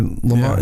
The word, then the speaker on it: Lamon: Because you have Layman, you pronounce it Layman or Lamont? Yeah, Layman.